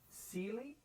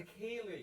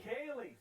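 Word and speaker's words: céilí: Is it Sealy? It's a Kaylee. Kaylee. See, this is why we have you on.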